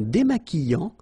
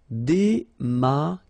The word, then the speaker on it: démaquillant: So we've got this QU, but then U is not pronounced. So you get the sound qui. Okay, and then remember, double L after E will give you the sound y. Démaquillant. Final T not pronounced.